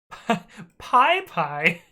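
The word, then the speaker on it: PyPI: how to pronounce p-y-p-i and additionally how to pronounce p-y-p-y and so the first one is pie pie pie pi oh this is so good and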